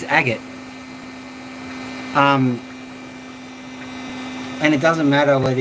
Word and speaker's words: agate: Well, when I think, like, I hate the word because the way it's spelled makes me go, it has to be agate or agate. And it's not, it's agate.